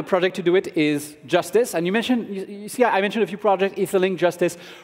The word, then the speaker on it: JSTZ: So JSTZ, pronounced Justice, is an experimental roll-up that you can try with a JavaScript execution environment.